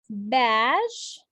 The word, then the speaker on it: badge: Badge, not badge. No, the D is silent.